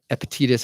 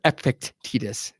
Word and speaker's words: Epictetus: I'll read a phrase from Epictetus, or Epictetus, depending on how you want to pronounce it, but it says, some things are in our control while others are not.